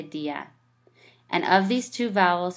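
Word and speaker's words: día: far as vowels go if the combination of a strong vowel and a weak vowel the weak vowel carries an accent the dip thong is divided into two syllables so if basically let's just simplify this if we didn't have an accent mark this would be right one syllable since the this is a dip thong we know we say Dia and of these two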